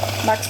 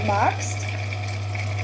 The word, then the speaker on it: magst: So magst, st, in the end st. G is in the back again. St.